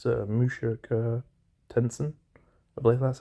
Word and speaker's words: Mushoku Tensei: Try to pronounce it correctly. It's Mushoku Tensei.